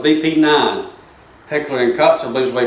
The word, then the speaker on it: Heckler & Koch: Heckler & Koch, I believe is the way you pronounce that.